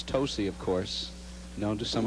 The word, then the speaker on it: Tosi: that I'm told that a lot of people mispronounce her name it's tosy of course known to some of her close